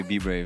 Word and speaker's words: BBRAVE: I normally say BBRAVE.